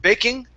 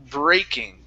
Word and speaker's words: breaking: Instead of baking, it's breaking. Give me a good R.